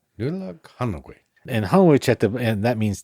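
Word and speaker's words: Nollaig Shona Duit: Here's how you say it. So this is a way you'd say it to someone, right? To an individual person. It's Nulag Hanowich. Nulag Hanowich. Nulag Hanowich.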